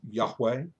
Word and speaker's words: Yahweh: name of God and it is um often pronounced by folks as Yahweh or Jehovah though the truth is